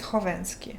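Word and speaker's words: Khovensky: The K is silent in your last name. It is silent. It's Hovensky. H. Because I added K because KH is meant for the H sound in English. That's why there is K.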